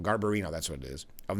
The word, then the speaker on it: Garbarino: And GOP Representative Andrew Gabbranio, Gar I I'm not pronouncing that right. Garbarino, Garbarino, that's what it is, of New York and